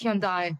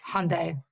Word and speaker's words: Hyundai: and by the way it's hyai not not Hyundai H just so you know